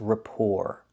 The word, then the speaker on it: rapport: So remember, the first word is rapport. The T is silent.